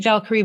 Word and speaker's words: Valkyrie: Valkyrie Racing.